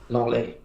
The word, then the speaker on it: Lenglet: I would say that Lenglet, I don't know how to say it properly, Lenglet, he was at Barcelona, French international. Longley.